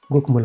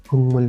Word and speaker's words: 국물: कहीं गलती नहीं है, गुकमुल पढ़ दिया आपने। लेकिन जब आप थोड़ा आगे बढ़ते हैं तो आपको पता चलता है कि ये उच्चारण गलत है। गुकमुल का जो उच्चारण होगा वो खुंगमुल होगा।